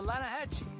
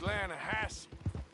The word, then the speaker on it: Lanahatchee: The Lanahatchee. It runs right near here. Yeah, but it's pronounced Lanahassee. Why is everything in English said differently than it's written?